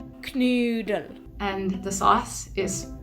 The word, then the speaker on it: Knödel: So, the dish is pronounced Knödel. Knödel.